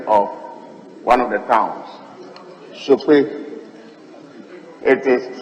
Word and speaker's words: Sokpoe: Speaker, before I read the question, may I use the opportunity to correct the spelling of one of the towns, Sope. It is spelled S-O-K-P-O-E.